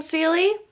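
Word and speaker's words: Célie: I do plan on reading The Scarlet Veil though, because I believe you pronounce her name Seely, I believe, is honestly one of the better characters to come out of Gods and Monsters.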